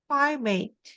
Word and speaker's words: private: school private school yeah sounds like like a fried chicken like a fried chicken sounds like fried but only pronounced as P like pry private school okay private